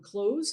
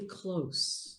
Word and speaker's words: close: And by the way, speaking of language, I always felt that the word close has been mispronounced. It's actually close. Go for the close.